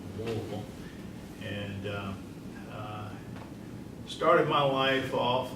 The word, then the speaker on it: Louisville: I'm originally from Louisville, Kentucky. Louisville, as those folks that are from that area, if you know anybody from Kentucky, they pronounce it Louisville.